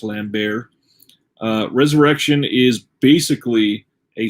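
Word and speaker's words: Lambert: is coming from christopher i believe his last name is pronounced lamb bear uh resurrection is basically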